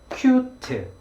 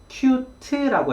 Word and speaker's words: cute: 발음하면 한국식으로 발음하면 cute, cute 이렇게 발음합니다. 우리는 자음이 혼자 존재할 수가 없어요. 자음은 반드시 모음과 함께해서 그 t 소리에 으라는 모음을 넣어서 cute라고 해서 음절을 2개로 늘려서 이 단어를 발음하게 되어 있습니다. 그런데 영어는 이 cute 라고 해서 1음절로 발음이 되는데요. cute 하고 뒤에 t 소리에 모음을 넣지 못하기 때문에 그 T 소리가 앞에 있는 Q 이 소리 밑에 들어가 있어서 cute 한 번의 덩어리로 소리가 나게 되는 거죠.